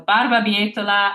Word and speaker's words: barbabietola: So I'm going to spell it all one more time. That's the full word. B, A, R, B, A, B, I, E, T, O, L, A.